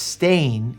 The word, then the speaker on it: Steyn: Stein is pronounced Stain here in South Africa.